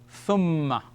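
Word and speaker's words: ثمّ: So you put it like that, and the shadda, and it is pronounced thumma. Tha with a mim, with a shadda. All right? Thum and mim, fatha, ma. Thumma.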